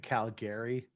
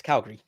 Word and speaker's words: Calgary: to school thank you so much for not pronouncing it Calgary yeah and no one pronounces like that it's Calgary and Toronto Toronto yeah Toronto because Toronto is